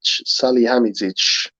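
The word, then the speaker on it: Salihamidžić: we need 10 players bayern's director name is pronounced sally sally sally hamidzich that's that's the one yeah he said it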